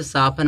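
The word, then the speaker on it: soften: जब TEN है तो साफन माने क्या होता है, कोमल होना।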